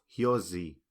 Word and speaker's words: hyozi: Entonces podemos ver acá la palabra escribir que nomás tiene una S y está entre dos vocales. Entonces se debe pronunciar hyozi.